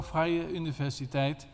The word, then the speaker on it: Vrije Universiteit: And about that book, I'm teaching at the Vrije Universiteit, that is Dutch pronunciation, We are not allowed longer to say free university because people think that there will be no payment, no tuition. So Vrije Universiteit.